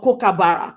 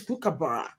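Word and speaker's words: kookaburra: I still can't pronounce avocado or cocaara cocaora they say it's cucabara so there's a way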